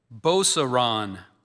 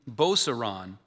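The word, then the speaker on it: Beauceron: Sarah is spelled S E R A Y A. Boseron.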